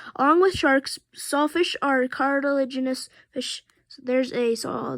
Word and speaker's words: cartilaginous: card card legend carter genius yeah i can't pronounce this word cartilaginous cartilaginous fish yeah there we go cartilaginous they have skeletons made of softer cartilage the